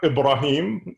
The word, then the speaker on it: Ibrahim: i've been feeling smart pronouncing it correctly is uh ibrahim but i don't expect you to get all that so ibrahim is great ibrahim is also good uh you know not